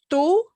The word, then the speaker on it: tú: be either tú, and notice it won't be two. Our English way of saying that, like the number two, yeah, it sounds a little bit like our number two, except we tone down that puff of air with the T.